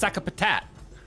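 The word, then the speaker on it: Sakapatate: Okay, it's pronounced Sakapatat.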